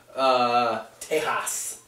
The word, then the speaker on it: Tejas: Tejas. Yeah. That's how you say it in Spanish.